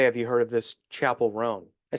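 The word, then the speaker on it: Chappell Roan: To me, it reads like Chappelle, but apparently it's Chapel Roan.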